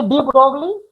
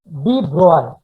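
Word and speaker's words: de Broglie: लिखेंगे डी ब्रोगली, लेकिन pronounce करेंगे डी ब्रॉय, ठीक है।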